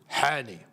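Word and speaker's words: Hany: Hani, if we're going to say it correctly. Hani. Muhammad Hani.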